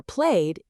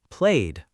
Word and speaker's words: played: The ed ending can sound like T or D. For walked, it sounds like T. For played, it sounds like D. Try to say slowly. Walked, played.